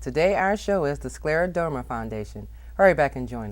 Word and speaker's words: Scleroderma: This is brand new to us because I'm hoping I'm pronouncing the name right. Is it Scleroderma? Scleroderma.